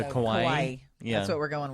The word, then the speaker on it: kawaii: Well, it's spelled like Hawaii, but it has a K instead of an H. So kawaii.